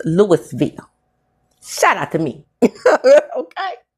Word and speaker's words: Louisville: We have a Louisville, and it's pronounced Louisville. Shout out to me. Okay, it's not pronounced Louisville here. It's not pronounced. It's the word is pronounced Louis because it's named after a man named Louis.